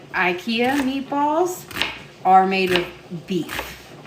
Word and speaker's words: IKEA: to stop at IKEA, or as everyone here in America calls it, IKEA. the Swedish pronunciation is IKEA.